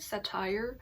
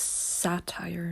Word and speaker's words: satire: i pronouncing it right satire hello this is me editing and unfortunately i was not pronouncing it right the right pronunciation is satire not satire like the accent is on sah not tire and honestly i doubt